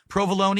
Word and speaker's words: provolone: English, you pronounce it minestrone. It's a silent E, What? just like In American provolone.